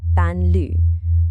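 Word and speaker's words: 伴侣: In Chinese, the word for companion is pronounced panlu.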